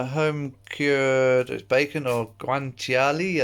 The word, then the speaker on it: guanciale: cured as bacon or guanciale I think is as close as I can pronounce it to the Italian way I've got little bit